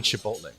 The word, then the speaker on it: chipotle: we were talking about chipotles right and he's like oh no you're saying it wrong and i'm like oh that's how you say it in spanish and he's like no no it's chipotle and i'm like did